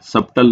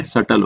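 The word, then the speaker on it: subtle: अब यहाँ पे आपको ये भी प्रोनंसिएशन पढ़ लेगी, यहाँ पे जो बी होता है वो साइलेंट होता है, सबटल नहीं होता है, सटल होता है, सटल बोला जाता है।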